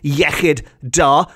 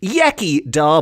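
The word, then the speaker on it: iechyd da: glasses in celebration in Welsh the equivalent is yid Da which is often pronounced Yi da by people who who haven't got their tongues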